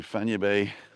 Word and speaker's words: Fañabé: And Charlie's saying Fanya Bay is like Aranya. Both are pronounced the same.